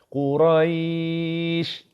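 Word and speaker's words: قريش: Quraisy. Rai ni yang kena panjang.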